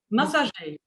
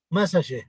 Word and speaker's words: Massagé: It's Massagé. Okay, how massage? Massagé. Massagé.